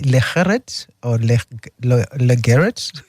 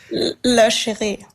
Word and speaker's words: La Chérie: This one is, I don't know whether I'm pronouncing it properly, Legeret or Legeret. La Chérie. Oh, La Chérie.